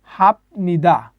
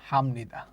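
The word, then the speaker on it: 합니다: মত উচ্চারণ হবে আচ্ছা তাহলে এটা উচ্চারণ হওয়ার কথা ছিল হাফ নিদা কারণ এই আমরা জানি বিয়োগ উপরে বসলে ব নিচে বসলে প সেই অনুযায়ী উচ্চারণ হওয়ার কথা ছিল হাফ নিদা কিন্তু রুলস অনুযায়ী আপনার এই প টা ম এর মত উচ্চারণ হবে বিয়োগটা ম এর মত উচ্চারণ হবে সঠিক উচ্চারণ হবে হামনিদা তা আমরা এখানে মোট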